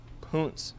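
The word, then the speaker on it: Punt: Gulf of addin with the people of it's pronounced pun pun most likely modern-day Somalia as you can see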